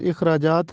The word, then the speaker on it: اخراجات: کو کہتے ہیں۔ اخراجات، یہ درست تلفظ اخراجات ہے، الف کے نیچے زیر لگا ہے، ہم اس کو زبر کے ساتھ پڑھتے ہیں، اخراجات پڑھتے ہیں جو کہ غلط ہے۔ درست تلفظ ہے